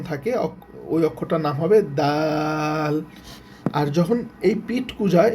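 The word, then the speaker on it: دال: পিঠ কুজা যখন থাকে ওই অক্ষরটার নাম হবে দাল।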